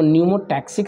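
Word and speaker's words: pneumotaxic: एक सेंटर को कहते हैं रिस्पायरेशन रिदम सेंटर कहते हैं, इसको RRC भी कहेंगे, और एक सेंटर को न्यूमोटैक्सिक सेंटर कहते हैं, जिसमें P साइलेंट है, न्यूमोटैक्सिक सेंटर।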